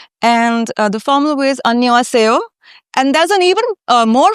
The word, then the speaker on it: Annyeong: It's Annyeong. See. So Annyeong is the informal way, and the formal way is Annyeong.